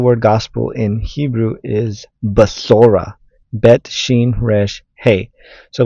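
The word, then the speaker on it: בשורה: So how to say the word gospel in Hebrew is basora.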